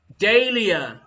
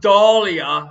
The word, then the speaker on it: dahlia: swedish botanist anders dahl it is the dahlia not dahlia her indoors trying her